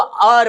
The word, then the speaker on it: hour: H silent है, इसको ये एच साइलेंट है, इसको आर पढ़ाया जाएगा, इसको और पढ़ा जाएगा। और पढ़ने से यहाँ पे एच जो है वो साइलेंट है और साइलेंट होने के कारण यहाँ पे साउंड जो आ जाएगा वो वॉवेल साउंड आ जाएगा।